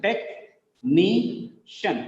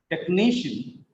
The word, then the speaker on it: technician: Technician. Three syllables are there. Second syllable. Second from last is stressed. Technician.